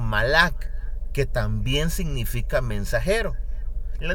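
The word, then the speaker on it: מלאך: hablamos de este término en hebreo nos referimos Nosotros con la pronunciación malak que también significa mensajero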